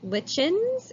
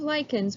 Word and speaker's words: lichens: it's called lichens now the word looks like lichens it is not pronounced lichens it's called lichens and what happens are these